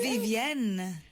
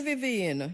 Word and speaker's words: Vivienne: Vivienne. She don't like the Vivian. But it's French, Vivienne.